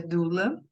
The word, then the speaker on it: doula: olhar sistêmico Lembrando que doula é uma palavra grega que se pronuncia doula e ela significa mulher